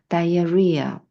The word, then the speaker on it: diarrhea: Diar리아. Diar리아. 네. H는 묵음이고 뒤쪽에 강세가 있어요.